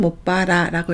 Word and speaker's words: もっぱら: 라가 나올 때는 못봐라라고 읽으시면 되겠죠.